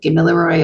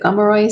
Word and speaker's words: Gomeroi: Sometimes you'll hear Gomeroi said Gamilaroi or Kamilaroi. My auntie tells me to pronounce it Gomeroi, so I do what she says, but we're all the same mob.